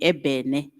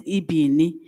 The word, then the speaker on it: ebene: Then they say this E-B-E-N-E, ebene, ibini. They pronounce it as ibini, where in the actual sense is supposed to be ebene, because in Setswana we say